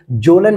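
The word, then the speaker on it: Kjølen: में देखने को मिलेगा और इसका के साइलेंट है जरा हाईलाइट कर लीजिए आप यहां पर अपने मार्कर से ये लिखा हुआ है के जलन माउंटेन तो के जलन को हम जलन माउंटेन भी कहते हैं क्योंकि के यहां पर साइलेंट होता है और इसके बाद अगर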